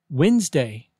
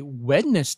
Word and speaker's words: Wednesday: marathon word number 10 Wednesday don't say wetness day be sure to